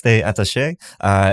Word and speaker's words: Stay Attache: the owner president of stay attache is that Kurt how you pronounce it that's right yes they attache in the DC area